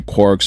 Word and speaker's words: quark: The quark meaning for one thing. The cry of the gull was clearly intended to rhyme with mark as well as bark.